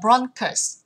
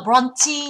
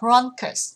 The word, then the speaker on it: bronchus: có đáp án D, từ này sẽ đọc là bronchus, không đọc là bronchi nhá, sẽ là bronchus.